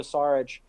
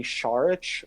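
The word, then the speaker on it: Šarić: his name incorrectly uh it's supposed to be charge or like there's like a more of like an h in the front part of it yeah yeah you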